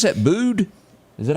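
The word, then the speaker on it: Bude: You pronounce that Bood?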